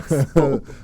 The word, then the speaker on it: Swope: Rope Swope. Hope for Swope.